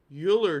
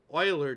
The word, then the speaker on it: Euler: the chat in mathematics euler diagrams or euler diagrams e-u-l-e-r are often